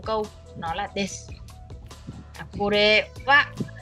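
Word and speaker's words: は: Cái chữ này là chữ ha nhưng mà khi mà nó đứng làm trợ từ thì mình sẽ được đọc là wa.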